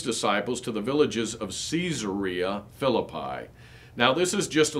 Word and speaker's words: Caesarea Philippi: times people will say caesarea philippi it is caesarea philippi it is named after caesar so we wouldn't say julius cesar we would say julius caesar so the proper pronunciation actually is caesarea philippi a city named in